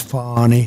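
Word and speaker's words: Fani: is bro talking about the name of fonnie even though it's F A ni I she wants to pronounce fonnie she's little little French little French accent and her communist invading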